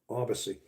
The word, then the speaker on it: Abasi: Abasi. All right. Awesome. Yeah, I was saying I was having two syllables in there. It's three syllables.